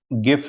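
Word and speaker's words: GIF: For example मेरे पास एक गिफ animation या जिफ एनिमेशन, आप जैसे भी प्रोनाउंस करते हैं, वो पड़ी थी.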